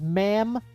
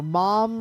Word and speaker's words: Maam: characters this is uh this is ma'am or Mom or it her her name is spelled m a a m it's very confusing or maam and then this is